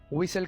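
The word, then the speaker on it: whistle: बजाने को इंग्लिश में विसल कहा जाता है दोस्तों यहां पर हम टी को साइलेंट रखेंगे प्रपोज करना सीखे अब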